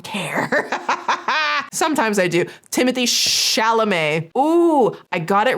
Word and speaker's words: Chalamet: in the comments get on me about some pronunciations here and there, and I don't care. Sometimes I do. Timothy Chalamet.